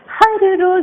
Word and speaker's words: har roz: Har roz. You have to stress on the first har.